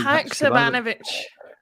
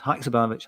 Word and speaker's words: Haksabanovic: Haksabanovic. Haksabanovic. I'll say that 3 times. Haksabanovic.